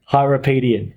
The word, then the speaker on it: Hyrapietian: We are in the studio today with, now, possibly the hardest name to pronounce, Hyrapietian. Hyrapietian.